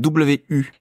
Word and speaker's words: 五: Donc W-U. Donc, les lèvres sont bien arrondies. Ou. Donc, ou. Ou. Après, c'est assez facile. C'est comme en français, le ou, O-U, ou.